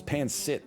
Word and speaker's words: pancit: I'm going to add some pancit, I'm assuming is how it's pronounced. And you know what? Some mapo tofu. Just a nightmare menu. Oh, there's beef Wellington on there? Next time. It's pancit. Sorry, pancit.